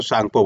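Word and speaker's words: Tsangpo: इसको बोलते हैं सांपो टी सांपो लिखा रहता है लेकिन टी साइलेंट रहता है ठीक है तो सांगपो बोलते हैं हम लोग राइट सांगपो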